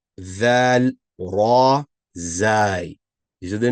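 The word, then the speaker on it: ذال: Regarding pronunciation, both going to have the A sound, not no A, but A. Dal, Zal.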